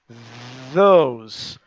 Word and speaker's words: those: Those. Those. É como se fosse Z-O-U-Z. Z-O-U-Z.